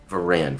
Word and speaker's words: Veran: Veran. Veran. Okay, I will. Veran. Veran. Yeah, like Duran. Duran. Exactly. Veran.